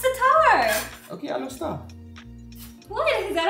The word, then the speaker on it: Alor Setar: Alostar. No, it's Setar. Okay, Alostar.